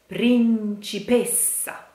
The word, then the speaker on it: principessa: But when you have to pronounce a double and you are singing, you will always, always have to pronounce it shortly, even if it is